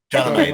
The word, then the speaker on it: Chalamet: I don't know how to pronounce that. Chalamet? Chalamet.